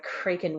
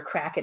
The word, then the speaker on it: Kraken: um John windham's book The cren wakes or Kraken however you want to pronounce it the Kraken wakes from